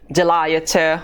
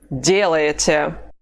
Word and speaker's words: делаете: The stress mark is over the first vowel, so we cannot say делаете or делаете. The only correct pronunciation of this form is делаете.